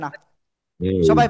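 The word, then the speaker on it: نساء: নুন জের উকুম ওকে, নুন জের নি, সিন আলিফ জবর সা, এ যে চার আলিফ মাদ, নিসা।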